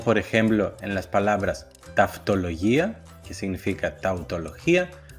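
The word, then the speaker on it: ταυτολογία: En el segundo caso se pueden pronunciar como af, ev, como por ejemplo en las palabras taftología, que significa tautología, o en la palabra lefgemia, que significa leucemia.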